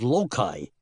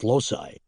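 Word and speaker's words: loci: The artors of ancient Greece and Rome memorized their long speeches thought for thought by using a technique called loai. Some people pronounce that lossi.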